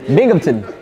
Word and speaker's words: Binghamton: Don't pronounce the A. It's the Binghamton.